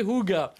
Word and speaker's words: Hygge: Ils disent prononcez Hygge.